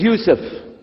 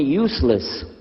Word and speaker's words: Yousef: we'll work on itah my name is Yousef can you say Yousef you say Yousef you're very good I wish you teach my wife she keeps mispronouncing it she calls me useless alhamdulillah now how many